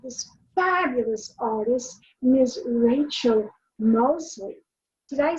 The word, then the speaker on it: Moseley: Rachel Moseley. Did I say that correctly? Is that how I'm supposed to pronounce it?